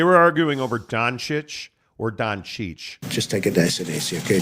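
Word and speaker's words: Dončić: this way back it's dancing okay now it's Don sick that's the proper pronounce Gonzaga exactly come on yeah it could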